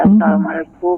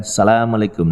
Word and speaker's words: Assalamualaikum: orang Arab membaca salam ya pendekatannya begini ya karena nada saya pun juga bisa dijamin seperti Arabnya Assalamualaikum jadi Adha jadi betul-betul hanya kedengaran boleh bukan Salamualaikum lagi tetapi Assalamualaikum warahmatullahi wabarakatuh biasanya kalau orang baca waktu